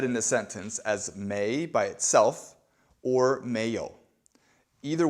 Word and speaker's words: 没: Now we're going to learn about the other negator, and that is may. It's written right here, M-E-I, second tone, may.